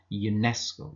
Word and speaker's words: UNESCO: honest but there are some words which begin with a vowel letter but they pronounced as um consonants so they would take an article a with them for example a European car a UNESCO official now the word European